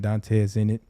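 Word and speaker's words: Dontez Enit: spell that d-o-n-t-e-z e-n-i-t so it's almost like Dante's Zenith in a way but it's but it's yeah yeah but I'm in it you know it's a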